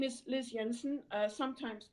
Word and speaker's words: Jensen: My name is Liz Jensen, sometimes pronounced Jensen.